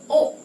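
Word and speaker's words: を: Penulisannya adalah gakko he ikimas tetapi bacanya tetap gakko e ikimas. Yang terakhir yang berbeda adalah partikel o.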